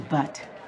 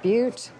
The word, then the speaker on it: Butte: there for me i'd like a ticket to butt i believe it's pronounced butte oh could i please